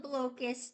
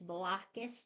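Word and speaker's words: Blokus: I always call it blus Duo so that's not not the correct pronunciation it's blockus Duo cuz you're playing blocks on the board you're playing head-to head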